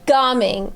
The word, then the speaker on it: Gaming: Gaming.